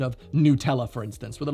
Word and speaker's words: Nutella: And the word was actually invented by Italians who do pronounce it Nutella, like most all Latin languages would pronounce it.